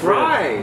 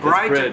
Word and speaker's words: BRIDE: It's Brid. Brid to Japan. Brid. Bride Japan. No. It's Brid. No, English is Bride. I know it, but you know, in Japan, we pronounce Brid.